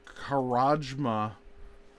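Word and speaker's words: Karamja: It's pronounced Karajma.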